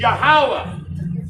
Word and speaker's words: Yahawah: of all nations for the correct pronunciation of the name of the most high which is Yahawah Bahashim and the name Yahawashi his only begotten son Bahashim Yahawashi. So Yahawah, Bahashim, Yahawashi, those are the names everybody hates to hear